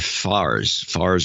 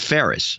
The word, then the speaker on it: Ferris: Gary Ferris, or Fars or Ferris, I think it's Ferris. $112.12 in Spring Valley, California. It's pronounced Ferris.